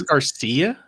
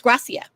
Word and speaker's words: Gracia: had a lot of wasn't it Alex Garcia? No, it's Gracia. Really? It's spelled Gracia.